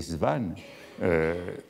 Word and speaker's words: Swann: au moins deux occurrences soi n'est prononcée svan par norpois c'est norpois lorsqu'il vient